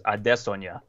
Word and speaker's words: Adesanya: Folks by the way that's how like Israel and his brother both say it is Adesa so I feel like